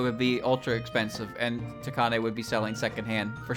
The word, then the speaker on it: Takane: If it was a Fumo, it would be ultra expensive, and Takane would be selling secondhand for sure. Oops. Ta should be a syllable with emphasis. Ta. Takane, like that.